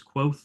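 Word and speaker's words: Kvothe: of my favorite characters his name is quo uh it's spelled KV t h so that might I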